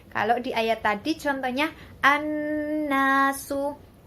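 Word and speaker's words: النَّاسُ: Nah, kalau di ayat tadi contohnya an-nasu. Alif lam bertemu dengan nun. An-nasu. Dibacanya ada tasydidnya.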